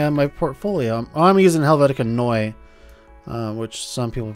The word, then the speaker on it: Helvetica Neue: using in my on my portfolio I'm using Helvetica Noi which some people pronounced as Helvetica new but it's actually pronounced Helvetica neue but anyways that's what I'm using for my